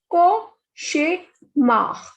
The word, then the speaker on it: cauchemar: CH is sh. So this is cauchemar.